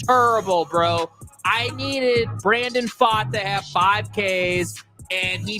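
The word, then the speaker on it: Pfaadt: umpiring performance was terrible bro I needed Brandon fought to have 5Ks and he finished with four because you didn't want to ring up the Texas strangers it's spelled terrible pitcher but pronounced fot yeah f is come on now help me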